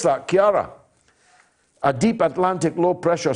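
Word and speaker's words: Ciara: the latest on storm kiara it's how you pronounce that kiara a deep atlantic low pressure system which is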